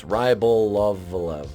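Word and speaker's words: Rybolovlev: If I'm pronouncing any of those wrong, I don't care. Same thing with this Rybolev. It's Rybolovalev.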